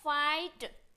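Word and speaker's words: fight: क्या बोला कि जी एच जो है हमेशा साइलेंट रहता है तो फाइट जी एच एफ आई तो जी एच तो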